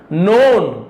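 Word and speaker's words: known: नोन के silent है।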